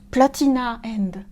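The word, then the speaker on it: Platinum End: enfin il y a platinum and qu'on prononce platina end voilà donc la c1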